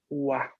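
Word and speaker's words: は: Pero luego tenemos otro wa, pero este no es este, pero se pronuncia igual. ¿Por qué? Porque es partícula.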